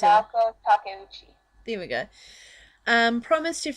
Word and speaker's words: Naoko Takeuchi: And in the last chapter, Naoko Takeuchi, I think pronounced it. Naoko Takeuchi.